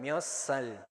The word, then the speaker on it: 몇 살: Entonces, recuerden, mio sal, que se arrastra.